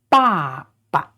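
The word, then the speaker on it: 爸爸: Notice this one, there's no tone on it, so that means it is pronounced very short and very soft. So together, ba, ba. That means that. In Chinese, there are a lot of words that are the repetition of the same sound. And in this case, the second syllable is not stressed and it has no tone.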